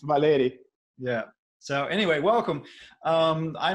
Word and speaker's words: Valery: way, and they said, no, no, it's Valery. No, Valery. Actually, in Russian, it's Valery.